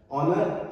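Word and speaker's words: honour: Silent H, ओ से पहले कभी भी जब हम एच देखते हैं इट मींस कि हमें एच को नहीं पढ़ना है। हमें कहां से शुरुआत करनी है? ओ से, लाइक ऑनेस्ट, ऑनर और ऑनरेबल।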